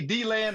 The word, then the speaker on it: DeLand: Did she say D-Land or DeLand? I call it D-land, but it's dead land, really.